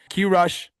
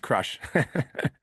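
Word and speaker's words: QRush: Q Rush, he said, holler at me. Hop on a fucking call with Quincy. It's pronounced crush. I just like doing Q Rush.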